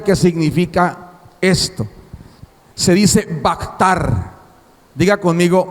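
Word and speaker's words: בחר: una palabra hebrea que significa esto se dice bactar diga conmigo vactar bactar vea ktr si se pronuncia bactar Eso quiere decir seleccionar decidir escoger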